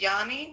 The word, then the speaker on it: Yanni: Anyway, welcome in um Johnny. Oh, you said your name is pronounced Yanni.